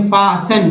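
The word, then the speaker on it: fasten: हेशन, हेशन means होता है जल्दी, जल्दी, टी का उच्चारण फासन, फासिन, फासिन मीन्स होता है बांधना।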